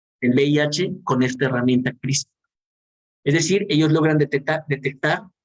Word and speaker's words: CRISPR: Hoy en día, gracias a una herramienta que se llama CRISPR, se deletrea C-R-I-S-P-R, CRISPR se pronuncia.